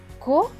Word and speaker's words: chocolat: Et le T à la fin est écrit en bleu, donc il ne se prononce pas. Donc, ce mot va se lire chocolat, chocolat, chocolat.